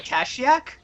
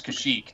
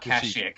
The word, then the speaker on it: Kashyyyk: And whenever are we on Kashyyyk? Yes, this is Kashyyyk, not Kashyyyk. It's Kashyyyk. That's how sorry.